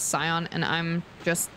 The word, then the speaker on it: Scion: looked it up and it is pronounced um skon I hope this helps thank you no the thing is the thing is that they pronounce it skon in this game like the voice actor say skon but everyone says cion and I'm just like